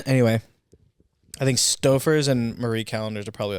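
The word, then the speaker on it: Marie Callender's: Stouffer's yeah Marie callenders how do you say it Mary calendar is a Marie I say Marie Marie callenders those are like the top I've never heard someone say it the other way Mary calendars yeah I'm sure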